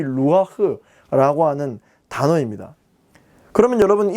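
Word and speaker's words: רוח: 중요한 이 의미를 전달하는 것은 바로 이렇게 생긴 이 히브리어입니다. 루아흐라고 읽습니다.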